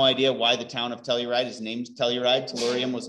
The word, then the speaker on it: telluride: Tellurium, which becomes telluride, like the town. I have no idea why the town of Telluride is named Telluride.